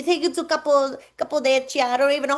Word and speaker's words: Cappadocia: They take you to couple couple Cappadocia. I don't even know how to say it, but the hot air balloons are amazing. Cappadocia.